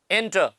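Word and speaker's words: enter: तो नेक्स्ट लेते हैं एंटर एटर एंटर को कैसे पढ़ते हैं एंटर मतलब प्रवेश करना एंटर एंटर का फोनेटिक ट्रांसक्रिप्शन ये है एंटर आर साइलेंट एंटर तो इसने एंटर में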